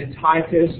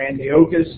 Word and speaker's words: Antiochus: was a man named Antiochus or Antiochus depending on the uh the pronunciation you I've heard it both ways uh and tyus I